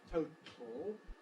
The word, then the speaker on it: total: the word total where we would recommend you to go straight from the T to the L that is to say total which implies lateral release of the T or tongue tips staying in place as we go from T to L total just as much as it does in Atlas well I know this